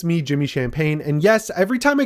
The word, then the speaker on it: Champagne: Yes, it is my real name, Champagne. There's no G in it. It's spelled exactly like the drink without the G.